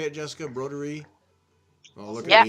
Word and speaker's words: Broderie: Broderie.